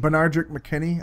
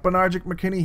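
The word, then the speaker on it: Benardrick McKinney: Bernardrick McKinney.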